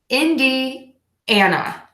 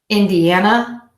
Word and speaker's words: Indiana: which is not pronounced the way that it is spelled next is the state right next to Illinois Indiana in d and up in d Ana Indiana Indiana Indiana Indiana okay this one always throws